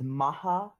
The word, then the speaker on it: Mach: Anyways, you pronounced Mach wrong. It was Maha.